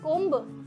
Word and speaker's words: comb: कॉम्ब. कोम्ब. No, again B is silent, so इट इज कोम.